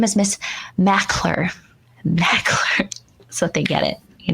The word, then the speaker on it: Maclure: ooh that's cool so it's really it's really mackler i mean i don't say it's mcclure but if you pronounce it that way people will spell it m c so i'm like great my name is miss mackler so they get it you know ashley thank